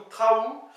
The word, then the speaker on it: traou: les choses en général trou ou Traou t R a e Z O U avec un accent sur le U ou alors Traou TR a O U